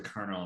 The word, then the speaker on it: colonel: still gets me because my dad was a kernel in the air force colonel it is spelled colonel yeah that's true there's